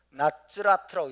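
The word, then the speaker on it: נצרת: 그래서 나ጼ레트라고 읽기도 하고 나츠라트라고 읽기도 합니다. 나츠라트.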